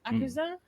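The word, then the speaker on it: Akaza: That's how you say it, Akuza.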